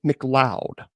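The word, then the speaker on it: McLeod: His name is Jason Mloud. Now, it's spelled his last name is M C L E O D. Uh, that's how it's spelled. Jason Mloud.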